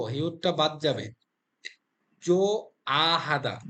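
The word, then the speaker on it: 좋아하다: জো হিউদটা বাদ যাবে জো আ হাদা জো আ হাদা বিষয়গুলো কিন্তু খেয়াল রাখতে হবে তাহলে হিউদ যেহেতু উচ্চারণ হবে না তাহলে এখানেও হিউদ আছে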